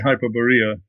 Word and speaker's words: Hyperborea: me is hyper boria or I guess you pronounce it hyperborea yes I would say hyperborea sure what can you tell people about this